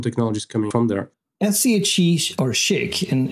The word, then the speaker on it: SCHC: developed a technology uh called shik which is the way to pronounce uh the technology which is SCC uh which stands for